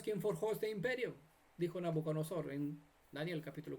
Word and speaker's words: Nabucodonosor: Nabucodonosor.